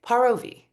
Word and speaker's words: Paravi: And she taught, like through her social channels and through her artistry, that you have to say Paravi.